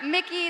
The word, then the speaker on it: Mikyx: Che one more time for broken blade for Mickey the ex is silent and G Esports winning yet another title